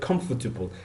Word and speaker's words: comfortable: Okay, syllable means anything that has its own sound, which makes it like, for example, the word comfortable has three syllables. Comfortable, like comfortable. Okay, three pieces of sounding.